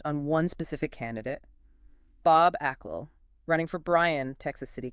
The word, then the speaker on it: Achgill: All right, welcome back to the deep dive. You've handed us well quite a fascinating stack of material today. Yeah, it's all focused on one specific candidate, Bob Ael, running for Brian Texas City Council.